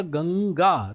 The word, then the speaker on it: गंगा: जैसे मैंने बोला गंगा तो ग के बाद अनुस्वार का उच्चारण हो रहा है।